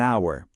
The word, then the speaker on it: hour: La forma correcta es an hour. La razón, aunque estamos viendo una H, esa letra es muda. En esta palabra no la pronunciamos. El primer sonido que realmente hacemos es el de una vocal, our.